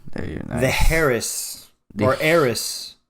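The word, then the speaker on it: Heiress: The Harris or Eris. Eris. I think it's Eris. Okay, the H is silent.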